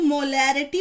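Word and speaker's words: molaridad: Okay, चलिए firstly मैं आपको बता दूं कि मोलैरिटी की स्पेलिंग है MOLARITY और मोलैलिटी की है MOLALITY। ठीक है, तो इसको मोलैरिटी पढ़ा जाता है और इसको मोलैलिटी, ठीक है, इसको कैपिटल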